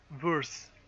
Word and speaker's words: Verse: Well, gain some loyalty with, I will have to remember her name, Verse. Okay. It rhymes with surfs.